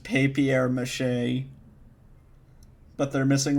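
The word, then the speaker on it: papier-mâché: like accents though okay it is pronounced papier mache but they're missing like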